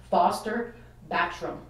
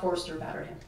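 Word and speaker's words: Forster Batterham: want to say that that's actually how you pronounce his name sorry everyone who's been sent wrong but it's Foster bactrim so not Forrester batter him he comes from an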